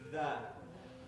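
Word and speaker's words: دال: So remember, whenever you pronounce dal, you say dal. Very soft.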